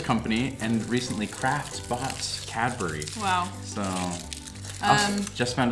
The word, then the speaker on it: Cadbury: So, also just found out the other day from a comment that Americans say the word B-U-R-Y. We say it funny. How do you say it? We say it like berry, apparently. Cadbury.